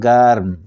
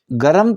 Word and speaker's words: گرم: ایک عام جو لفظ ہے وہ ہے سرد اور گرم. آپ گرم تلفظ نہیں کریں گے، گرم.